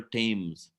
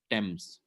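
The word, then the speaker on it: Thames: of London's Great River the river tames pronounced temps 2nd September 1666 so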